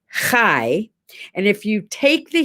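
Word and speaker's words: חי: you take the letters the hebrew word for life is hai like spelled like like chai t-c-h-a-i but you got to get that hairball guttural thing going on so it's kai and if you take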